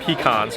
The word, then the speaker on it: pecan: And yes, I pronounce it pecans because I'm from Ohio.